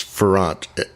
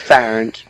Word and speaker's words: Farrant: It's Farrant. Farrant? Yeah. It's Farrant.